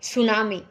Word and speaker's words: tsunami: यहाँ पर टी से स्टार्ट है ये वर्ड, लेकिन टी यहाँ पर साइलेंट है, टी की साउंड नहीं आएगी बोलते टाइम। इसको हम पढ़ेंगे सुनामी।